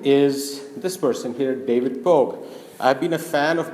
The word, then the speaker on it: Pogue: to my friends, said Pogue rhymes with Vogue, how about I make a picture of him on the cover of Vogue?